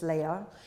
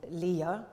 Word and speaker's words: Leia: Princess Leia, um or Leia, by the way, in the film it's pronounced in two different ways. I'm going to stick with Leia cuz slightly more often in the film than than Leia, but anyway.